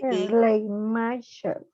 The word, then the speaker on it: Schleiermacher: Frédéric Schleiermacher, se escribe S-C-H-L-E. Schleiermacher.